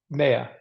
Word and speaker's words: Maya: my name is mayia I say it rhymes with Princess Leia because it's hard to